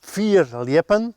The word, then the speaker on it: fierljeppen: Fear leap. Fear leapen. And fear means far. And leapen to leap.